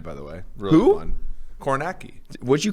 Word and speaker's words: Kornacki: his last name right kornacki the the end part is naki i i can't believe